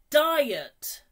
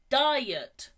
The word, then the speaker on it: diet: menu good and finally diet diet two syllables die yet again diet perfect well done